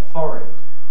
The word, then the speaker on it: forehead: the middle of her forehead and when she was good she was very very good when she was mad she was worried now if you pronounce it as forehead that rhyme doesn't work anymore but that's what many